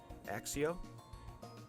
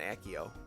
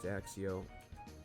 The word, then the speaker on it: Accio: see her third ability axio how you say it with a little extra axe in it i know it's not accio that's that's whack pick an ally or